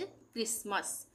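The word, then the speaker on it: Christmas: इसी तरह से क्रिसमस। क्रिसमस में इस टी का उच्चारण नहीं होगा। क्रिसमस नहीं बोलेंगे क्रिसमस। यहां पर यह है यहां पर हमें यहां पर भी टी का उच्चारण नहीं होगा।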